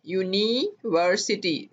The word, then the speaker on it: university: A university, यूनिवर्सिटी, ये इसकी pronunciation है। आवाज देखें य की आ रही है, हालांकि ये यू जो है वोवल लेटर है, पर आवाज चूंकि इसकी वोवल नहीं है इसलिए इसके साथ हमने